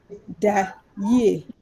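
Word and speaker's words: da yie: So since we are saying good night, I speak Twi, and good night in Twi is da ye.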